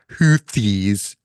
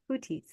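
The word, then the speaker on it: Houthis: and the hutis wow which is actually how you pronounce it not huies really it's hoties thank you I and and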